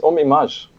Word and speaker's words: Ohm Image: It's Ohm Image. Image. With a French touch.